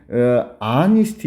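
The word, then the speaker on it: honest: 된다는 얘기입니다 알겠죠 여러분 어니스트 있죠 아니스트 아니 정직한 소년인데이 h가 발음이 안 되거든 알겠죠 알겠죠 그래서 얘도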